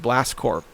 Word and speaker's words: Blast Corps: had a game called Blast Corps. Blast Corps, but it was spelled like Marine Corps, like with a P, Blast Corp.